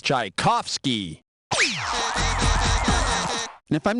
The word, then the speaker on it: Tchaikovsky: The pronunciation for this famous Russian composer is Tchaikovsky.